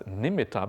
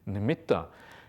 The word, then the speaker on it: nimitta: Nimet ah we often translated as we often pronounced as nimita but really the proper pronunciation is Namita is TT so should be limited rather than